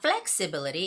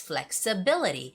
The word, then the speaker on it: flexibility: the word flexibility okay when the word ends with bility normally the stress goes on be you know their word ability ability ability so flexibility has the same stress so it's not flexibility its flexibility flexibility so you have to be